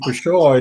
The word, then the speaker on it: pshaw: Is in Peshaw, is the P pronounced? Because we know from the P.G. Woodhouse stories involving his character Smith that the P is silent, as in pterodactyl. My understanding is that it was pronounced, but of course I